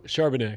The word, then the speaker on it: Charbonnet: Charbonnet. Charbonnet. When's he back? Zach Charbonnet.